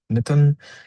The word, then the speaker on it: Mithun: Mithun is pronounced very similar to the mitten that you wear in your hand.